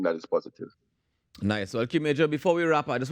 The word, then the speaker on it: Qmajur: The pronunciation is Qmajur.